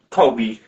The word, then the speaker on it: Kobe: Is it pronounced Kobe or Kobe? Kobe. Just Kobe.